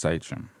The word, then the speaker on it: Sachém: uh found out that it's actually pronounced satram so then I wanted